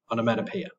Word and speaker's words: onomatopoeia: You can use onomatopoeia, pronounced on, mat, p, onomatopoeia.